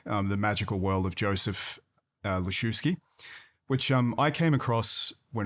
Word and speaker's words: Lisiewski: He tended to do the W more as a V, like a German V, like a chef's V, like soft F. but Lisiewski.